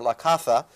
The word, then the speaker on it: La Caza: carlos sarah's the hunt la casa or la casa as i'm told it would be pronounced in and pronounced in castilian there's a lot to